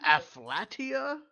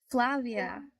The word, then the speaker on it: Flavia: You said Afflatia. Flavia. Oh, Flavia. You just pronounced wrong.